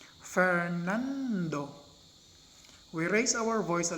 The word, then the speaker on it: Fernando: we say that none the second syllable in the name fernando is stressed or accented say for example in